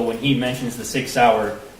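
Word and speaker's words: Sauer: he mentions the Sig sour he mispronounced sour as Sawyer which if you purchased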